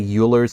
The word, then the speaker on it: Euler: And you might be tempted to say Euler's number, and I know I have before too, but the proper way to say this, it sounds like Euler.